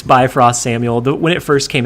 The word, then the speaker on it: Bifrost: to one-up it with bio-freeze i was so confident in the pronunciation too like i didn't even second-guess it it just oh this is so awful yeah it's bifrost samuel when it first